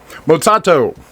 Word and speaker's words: Matsato: Matsato.